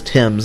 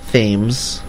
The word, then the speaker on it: Thames: Yes, it is Thames and not Thames, which is how I pronounced it for most of my life before somebody graciously corrected me.